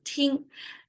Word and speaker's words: 听: Okay, so listen, 听, pronounced as 听.